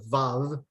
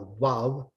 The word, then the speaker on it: vav: There are some Jewish biblical scholars that do use the biblical conventions, but generally, things like very distinctive, you mentioned the Vav, being a wav, you'll see in some texts, the name of God, Yud He Vav He, written out or transliterated YHVH.